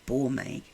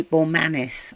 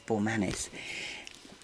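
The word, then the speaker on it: Bormanis: reading science logs by Andre bouret no Bor Manis I pronounced I said his name completely wrong the other day ignore that it's Bor Manis he was a science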